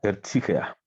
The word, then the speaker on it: Erzieher: Y esa palabra es Erzieher, que se pronuncia Erzieher.